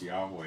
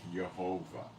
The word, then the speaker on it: Jehovah: The name is not pronounced Yahweh, it's Jehovah. YHVH, transliterating in English, if you could even do that.